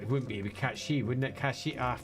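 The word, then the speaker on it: Cait Sith: I said it wouldn't be a cat she, wouldn't it? Cat she. I've forgotten how to pronounce it.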